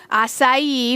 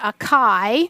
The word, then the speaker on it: acai: is for you so acai which is not a chi is a superfood because